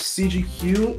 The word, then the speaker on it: CGQ: we have cgq hello my name is CG Hugh spelled like cgq be concerned if you got that wrong cgq is a first